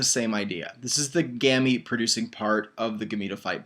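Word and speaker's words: gemmae: little cups back here and these are called gammy cups gammy is spelled GE mmm a ee gammy is GE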